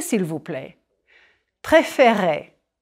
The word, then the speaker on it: préférer: Préférer. Smile a bit when you say those E accent aigu. Et. Préférer. Je préfère. It's the accent change that opens up the second E.